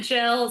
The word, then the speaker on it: Gil: Yeah, he says it Jill. So, it's a little confusing. I think it's a Yeah, but it is Jill. He says it Jill, but it is spelled like Gil, which makes sense.